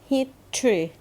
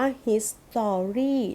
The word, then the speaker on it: history: ทรู ฮิต Three ประวัติศาสตร์ คำ นี้ มี หลาย คน อ่าน ผิด เรา ห้าม อ่าน ว่า ฮิต ซอมบี้ เด็ด ขาด นะ คะ ห้าม เด็ด ขาด แต่ ให้ อ่าน ว่า ฮิต Three ฮิต Tree อาแน็ค Geographic Geographic Geographic